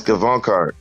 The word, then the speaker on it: Gavankar: Yes, Gavankar.